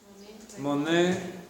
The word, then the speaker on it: Monet: y en este caso si no pronunciamos la última consonante venga monet renoir aunque hay muchos